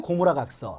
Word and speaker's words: 고무라: 그리고 5월 달에는 베베르 고무라각서, 다른 말로 웨베르 고무라각서라고도 이야기하는데 왜 이렇게 두 가지를 다 이야기하냐면 W가 영어로 이야기를 하면 웨베르라고 읽고 독일어식으로 발음을 하면 베베르라고 읽습니다. 그래서 베베르 고무라각서 혹은 웨베르 고무라각서라고 하는 거예요.